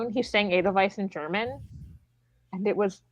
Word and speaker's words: Edelweiss: I was like, it's not a different pronunciation, it's just wrong. It's a German word. Edelweiss.